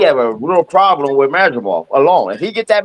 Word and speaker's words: Madrimov: I want to know who has him fight Madrimal. Where's this spectacular Madrimal fight coming from? From Eddie Hearn. Eddie Hearn dropped Eddie Hearn. Yeah. Did you not hear Eddie Hearn say it was Madrimov?